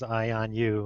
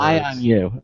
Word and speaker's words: IONU: you I'm good uh just to clarify that pronunciation is I on you it's sort of a play on words I on you okay is I on